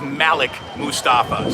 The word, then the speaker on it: Malik Mustafa: early by the way no one needs to say that we're pronouncing that wrong Malik would be the wrong pronunciation it is Malik Mustafa so there we go